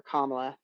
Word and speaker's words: Kamala: stuff at all or kamla how am I supposed to say it Marty yeah it's it's kamla apparently kamla okay Kamala they decided four years